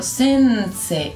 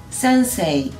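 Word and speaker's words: 先生: O con una I. Por ejemplo, sensei. Y en velocidad media, las dos maneras están bien pronunciadas. Sensei. Sensei.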